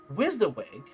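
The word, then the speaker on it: WYSIWYG: supposedly pronounced as wizawig.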